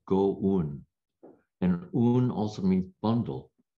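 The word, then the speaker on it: 五蘊: Chinese character is five, in Japanese is pronounced go-un, and un also means bundle.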